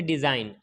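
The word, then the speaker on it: design: है इसी तरीके से डिज़ाइन एंड से पहले जी आया है तो साइलेंट हो गया है इसी तरीके से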